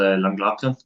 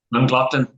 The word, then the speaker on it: Llangollen: We go to a spot called Llangollen. There's a Welsh way of pronouncing, but that's kind of the best way. I'll go on, give the stab, Mark. Go on. Llangollen.